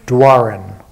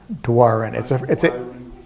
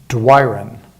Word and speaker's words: Doiron: people in Maine is Doiron, like do I run.